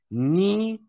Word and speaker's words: knee: cool cool k n k n is never pronounced as it's always pronounced just as the K is silent so for example knee knife and no never